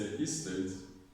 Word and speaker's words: estate: The S state, when you say estate, you're stressing the first syllable, the S. It's actually estate, not estate, estate. The stress is on state.